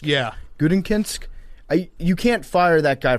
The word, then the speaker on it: Gutekunst: And a guy, how do you pronounce his name? Is it Gutekunst? Yeah. Gutekunst?